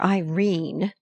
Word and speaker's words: Irene: "My daughter Irene," said Mrs. Carstyle, she made it rhyme with tureen, "has had no social advantages, but if Mr.